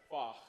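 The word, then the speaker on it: Fach: Did I pronounce it correctly? Close. Oh, F-A-C-H. Okay, what's the correct pronunciation? Fuck. What the fuck?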